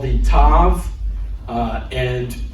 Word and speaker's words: tav: It's called the tav. Uh, and we are going to pronounce it with the sound of T whether there's a dot in it or not.